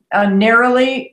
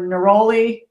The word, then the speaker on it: neroli: I go back and forth between England and the U.S. So some things I say in the English way, and so some things I say in the American way.